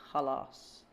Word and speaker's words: خلاص: Enough is خلاص. You can literally just say it like خلاص.